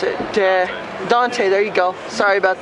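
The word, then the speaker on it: Donte: And we have I'm gonna mispronounce it. Dante, there you go.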